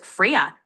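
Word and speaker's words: Freya: Ah f r e y a is pronounced friya like the Norse goddess. Great job. Fria.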